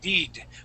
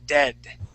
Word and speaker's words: dead: Okay, you had pronounced Okay. it deed with a long e sound. The word is dead.